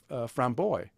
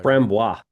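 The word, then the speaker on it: Framboise: Types of lambic beer include the Goose, the Creek lambic, and the framboy. How do you say that? Framboy. Frambois.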